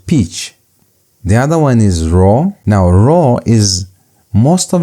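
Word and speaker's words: rho: The other one is raw.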